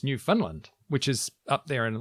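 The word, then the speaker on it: Newfoundland: the first thing cuz I've always thought it was New Foundland of course you did and apparently I've been saying it wrong cuz when you're from New Finland it's New Finland which is up there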